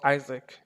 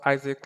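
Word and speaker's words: IASC: This is pronounced Isaac. The way you pronounce Isaac like ISAAC.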